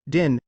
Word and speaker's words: Dion: listed as Celine din the word Dion is also pronounced in UK as din Dion in French her name is pronounced as Selen my clot DJ with Dion being pronounced in Quebec French as G references bibliography further reading